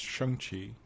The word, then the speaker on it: Shang-Chi: And I think with, and I know it's kind of a month before, it's actually pronounced Shang-Chi. I was corrected.